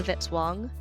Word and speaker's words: Vitzwong: Music by Kevin Vitzwong rhymes with hit song.